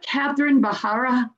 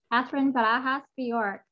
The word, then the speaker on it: Catherine Barajas Bjork: Why don't you say it the right way, because I don't say it right. Catherine Barajas Bjork. There you go.